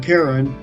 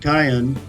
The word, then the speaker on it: Karen: there are about 30,000 Karen or more correctly pronounced Cayenne in the world today